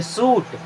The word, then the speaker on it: shoot: SHOOT, शूट नहीं पढ़ेंगे, सूट।